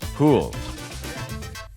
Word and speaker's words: Houle: amazing story of luke poole well that's a pretty great thing first of all your name is awesome because it sounds like cool when you pronounce it